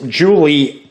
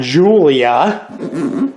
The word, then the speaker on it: Julie: with Julia Hahn and it is Julie her not Julia as sometimes I say it a little too quick so you might get the name wrong at GenCon she talked